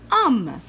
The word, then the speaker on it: homme: Homme. On voit la lettre H, mais elle est muette. On ne la prononce pas.